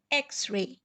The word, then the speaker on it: x-ray: here it's pronounced as x-ray it begins with the sound er which comes from the letter e which is a vowel so a is a